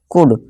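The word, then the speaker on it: could: कुड COUD से काउड नहीं पढ़ेंगे, ठीक है दोस्तों। जो L होता है ये साइलेंट होता है, ठीक है दोस्तों। इसे हम कुड पढ़ेंगे, कुड का मतलब होता है सका या पाया, ठीक है दोस्तों।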